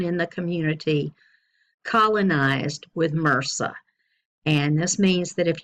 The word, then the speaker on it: MRSA: of superbugs like MRSA, and that's how you pronounce that, MRSA, or some people say MRSA, which is fine.